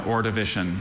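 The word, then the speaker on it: Ordovician: Alter pronunciations uh just the one orivition.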